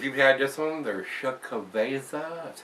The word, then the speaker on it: Xocoveza: So if you've had this one, they're Xocoveza. That's how it's pronounced.